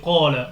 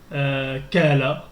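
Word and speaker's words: قال: Pardon, on dit Qala. On dit pas Kala.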